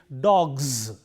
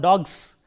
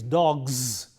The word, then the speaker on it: dogs: and therefore, the plural form takes a z sound, which is plural. Therefore, it is dogs. Z, look at that. It is not s, it is not dogs, but it is dogs. The voicing should be there.